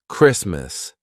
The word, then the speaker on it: Christmas: a good time also when the t is in between two consonants except for the letter R all right so for example Christmas the t is in